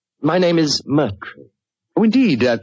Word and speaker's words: Moriarty: People will either misspell it or mispronounce it. I'm afraid I'll have to begin calling it the way it looks. M-O-R-I-A-R-T-Y.